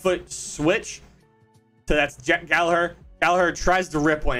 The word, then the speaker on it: Gallagher: His name is John Gallagher. Not Gallagher. Not Gallagher. Gallagher. I probably butchered that by saying that, but whatever.